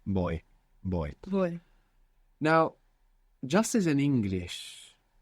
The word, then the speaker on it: voy: And you're mostly going to hear it pronounced more like a soft B. Boy. Boy. Voy.